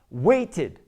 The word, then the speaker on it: waited: When you add ed to it, which sounds like an id, automatically, when you put it in the past tense, it's pronounced waited. Waited.